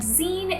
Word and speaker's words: zine: to make seeds and zine is pronounced sort of like the end of the word magazine and a zine is